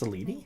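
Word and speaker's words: Selene: It's pronounced Seleni.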